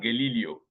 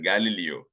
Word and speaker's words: Galileo: examples okay Galileo Galileo it is not Galileo it is pronounced Galileo he lived in the